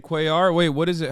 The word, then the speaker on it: Cuellar: Henry Queller, brother. That's how you say it. God damn it. He's in Texas, not Mexico.